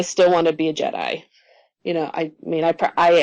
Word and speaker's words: Jedi: bear in mind that jedi rhymes with you die and um so yeah